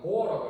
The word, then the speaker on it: 보어: 그리고 다음 다섯 번째 원자 모형으로 넘어가면 보어라고 읽어요. 보흐르가 아니라 보어라는 아저씨가 주장한 원자 모형인데, 이것도 잘 자세히 보면 마이너스 전자들이 어떤 특정한 궤도를 따라서 돌고 있어요.